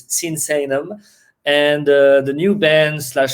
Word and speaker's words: Sinsaenum: People having trouble to pronounce correctly, so it's Sinsaenum.